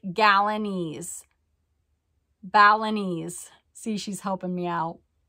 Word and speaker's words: Balinese: ten dollars it's a mahogany felony Balinese bust pronounced like gallanese Balinese see she's helping me out uh but with